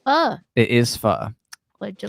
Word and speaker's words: pho: I just heard that is the proper pronunciation. Is it called pho or pho?